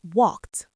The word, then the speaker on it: walked: So for the past tense, the ed d turns into a sharp t. It's not walk. It's walked. Walked. It sounds like one syllable.